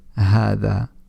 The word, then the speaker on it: هذا: But generally speaking, in books, in newspapers, and wherever else you might be reading Arabic, then it won't be written, but it's pronounced as هذا.